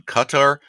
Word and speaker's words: Qatar: Some Americans and are settled on Qatar. Um Uh uh uh uh pronunciation cuz it uses two letters that only uh-huh. The accepted pronunciation, according to the Qatari government, Uh-huh. is Qatar.